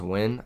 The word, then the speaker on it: Nguyen: Nguyen is pronounced win.